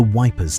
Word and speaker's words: Ypres: They called it the Wipers Times, after the soldiers' pronunciation of Ypres, and the first issue